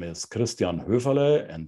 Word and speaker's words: Höferle: my name is Christian ruvale and that would be the German pronunciation of my name um I live in